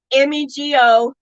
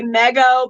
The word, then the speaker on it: Mego: It's spelled M-E-G-O. A lot of people want to say Mego, but it's Mego. Mego.